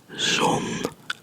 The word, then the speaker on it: zon: So this is zon, because it's a short O. Zon. Oh. It's almost like a French O, right? Like O. So it's zon. Zon. Don't forget to pronounce the N.